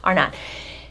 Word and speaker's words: Arnott: Did I say it right, or is it Yes. Arnott? Arnott. Okay, Arnott.